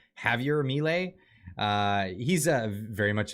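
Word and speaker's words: Javier Milei: yeah they voted in I think it's pronounced Javier melee Javier melee uh he's a very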